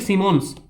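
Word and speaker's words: Symonds: University list, ये एक ranking है फ्रेमवर्क क्वेकरली सिमोन्स, इसका पूरा नाम है क्वेकरली सिमोन्स, जिसे साइमंड्स भी पढ़ा जाता है कहीं कहीं, क्वेकरली सिमोन इसका सही प्रोनाउंसिएशन है।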